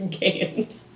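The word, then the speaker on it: GAEMS: Sorry, it's Games. G-A-E-M-S.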